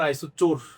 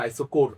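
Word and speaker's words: isochore: সিচ আর আচ্ছা বলুন আইসোচোর চোর না আইসোর এটাকে বলে আইসোর উচ্চারণ ভাই আইসোর আইসোকোর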